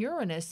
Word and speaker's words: Uranus: The bright planets Venus, Mars, and Jupiter may be seen later with the naked eye, but Mercury and Uranus, and yes, that's how astronomers pronounce the planet, may be tough to see.